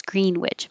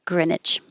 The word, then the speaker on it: Greenwich: And there are places that call it, that say the whole name the way it looks, Greenwich. My hometown is one, but I think the rest of the country is pronouncing it Greenwich.